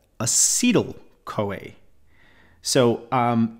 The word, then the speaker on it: acetyl: it for you a so it sounds the same but spelled slightly different e t y l Co c-o-a sorry okay so this is acyl this is acetyl so beta oxidation turns